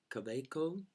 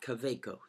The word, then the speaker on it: Kaweco: good things about it this pen is a cabaco which is the proper way to say it